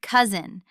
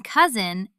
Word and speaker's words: cousin: And look at the word cousin. The letter S in cousin actually sounds like a soft Z. We say cousin, not cousin.